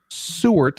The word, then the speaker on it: Seward: Seward, like think about the sewer, It's not how it's spelled at all. like where the Ninja Turtles live.